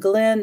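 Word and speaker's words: Gleann: It's Crow Glen Pagan Services, and Glen is spelled, the goddess gave me Glen spelled this way. And I just found out that recently that it was Scottish, G-L-E-A-N-N, and it's Crow Glen Pagan Services.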